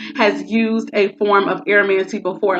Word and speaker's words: aeromancy: And the third and final one for today is called aromancy. It is spelled Aeromancy.